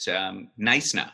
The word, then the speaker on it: Gneisena: House is to visit Gneisena. So the pronunciation is the K is silent, and I got that right? It's called Gneisena.